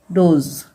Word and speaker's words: dose: Then यहाँ पे DOSE, यहाँ पे भी देखिए एस को ज ही पढ़ा जाएगा, ठीक है। तो डी को पढ़ा जाएगा ड, ओ को ओ, एस को ज, ठीक है, डोज, मतलब खुराक।